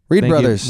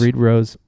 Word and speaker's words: Reid Bros: Please pronounce it brothers if you can. If you just can't read Bros is fine.